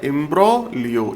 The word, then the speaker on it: imbroglio: इसमें जी साइलेंट होता है। ए्ब्रोलियो।